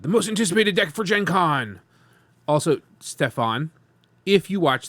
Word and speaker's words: GenCon: I actually know it's like the hard G for like the GenCon stuff is a lot like the Yu-Gi-Oh! And anime scene. That's how they would pronounce that stuff.